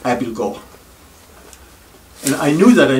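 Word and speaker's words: Abildgaard: i came across the word spelled a-b-i-l-d-g-a-a-r-d it's pronounced abilgo and i knew that i knew the word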